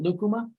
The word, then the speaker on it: lucuma: else and so um there's a fruit in infatuate called leukema l-u-c-u-m-a that looks like lakuma i think they pronounce it lukuma in peru um it'd be like